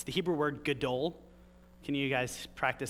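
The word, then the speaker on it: גדול: Gadol? Gadol. And remember, it's Hebrew, so it's gadol. If you're not spitting on the person in front of you, you're not saying it right.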